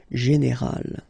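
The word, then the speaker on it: générale: But then phonetically it's quite interesting because you don't uh make any difference. You will get so general at the masculine form and it will be exactly the same thing at the feminine form. General.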